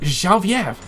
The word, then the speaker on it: Genevieve: It's Genevieve.